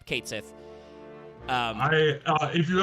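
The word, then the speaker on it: Cait Sith: Yeah, it is Kate Sith. Yes, they don't pronounce it Kati in seven, which is weird because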